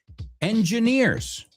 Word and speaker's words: engineers: Another word that people often mispronounce, engineers. I've heard many, many different variations of this word. Engineers. Es como decir motor, orejas. Engine, ears. Engineers.